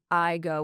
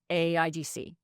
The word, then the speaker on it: AIGC: They're then they have a similar model to Ontario where they have uh we don't say I go we say and we don't say it we spell it AIGC uh the Alberta Internet